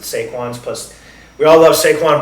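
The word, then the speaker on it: Sequans: I don't know if it's Sequins or Saquons. Being that it's um a French company, I'm going to pronounce it Seaquins.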